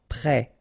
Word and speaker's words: prêt: Final T not pronounced. E accent circonflexe like that phonetically gives you the E sound. Prêt.